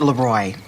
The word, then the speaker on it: Leroy: So, Leroy. Actually, it's pronounced Leroy. It means the king in French.